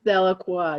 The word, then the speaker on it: Delacroix: Yeah, which you pronounce Delacroix.